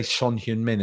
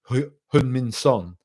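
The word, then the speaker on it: Son Heung-min: everybody's woke now because they say son hmin instead of hum son just how you say his name like it was really irritating me my my commentator today kept saying H H son it's like son me it's easy really easy like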